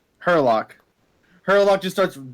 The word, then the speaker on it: Herlock: Herlock. Herlock.